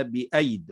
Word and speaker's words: بأيد: بنيناها بأيد وإنا لموسعون، ستجد أنها في المصحف عندك مرسومة بياءين، الياء ياء منهما عليها الصفر المستدير، فمعنى ذلك أنها لا تنطق، فنقول والسماء بنيناها بأيد وننطق ياء واحدة.